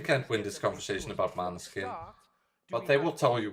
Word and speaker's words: Måneskin: No, it's because of those people that they start saying Moleskin. No, it's Maneskin. It's not because they write it like that you have to pronounce it like that. That's just for a joke, because one of them is from Denmark. People in Italy are not gonna say Måneskin. You see an Italian saying Måneskin?